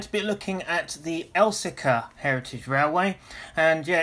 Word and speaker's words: Elsecar: today we're going to be looking at the elsica heritage railway and yeah it's pronounced elsica it's not else car i know some people refer to it as